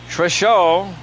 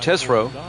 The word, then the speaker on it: Tesreau: Jeff Treshaw. Oh boy, how do you pronounce that? Jeff Tesreau will be the starting pitcher for the Giants. I believe that's how you pronounce that, Tesreau.